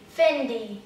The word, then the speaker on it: Fendi: A bolsa da Fendi. Fendi. Fendi. Ó, só muda o D, tá vendo, gente? Não é Fendi, É Fendi.